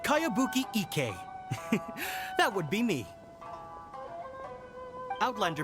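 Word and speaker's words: Kayabuki Ikka: one i've never heard of it hmm by cowabunga icky mia this is a really strange name who's this cowabunga it's pronounced kayabuki ek that would be me outlander brigade is a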